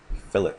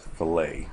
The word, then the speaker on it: fillet: today we're going to go over another NBS fillet command and I've been corrected on the correct pronunciation of fillet and not filet like I was saying anyway under the uh